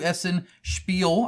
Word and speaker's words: Essen Spiel: Well, it's right now because I am on a plane right now going to Essen Spiel.